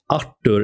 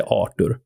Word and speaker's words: Artur: So, okay, Artur is the classical Swedish way to say it, but also a lot of people say Arur and then you have Arthur is the English way.